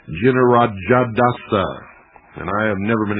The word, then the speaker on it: Jinarajadasa: Jinarajadasa, and I have never been able to pronounce that name, spelled J-I-N-A-R-A-J-A-D-A-S-A, Jinarajadasa, who was the president of the society for many years, since 1945.